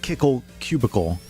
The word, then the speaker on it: Kickle Cubicle: finish uh kickle cubicle which apparently is pronounced according to hey sural uh kickle cubicle but I think it's spelled wrong to be pronounced that way I don't know we'll see I I have nothing to base that on other than hearsay you agree on the pronunciation you agree with kickle cubicle from what you've heard I I hadn't heard it called kickle cubicle until surreal that was cool sounds like icicle well maybe I'm just